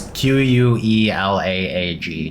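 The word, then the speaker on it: Quelaag: I call her Quelag. It's Queelaag. I forgot. It's a Kulog. It's Kulog. I don't care. That's the way I was pronouncing it for a long time.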